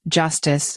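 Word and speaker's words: jstz: development the introduction of gstz pronounced Justice a smart rollup powered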